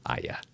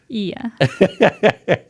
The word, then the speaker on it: Iya: Ia, it's Ia. Ia. Oh my gosh. All the All of the time I thought it was Ya. Most people um pronounce it ya because of the way it's spelled but it's actually okay.